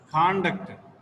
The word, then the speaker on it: conduct: The first syllable, the first letter receives the stress point, conduct. And the second, read this, conduct, Conduct. conduct, conduct. The second syllable receives the second word, second letter, second syllable receives the stress points.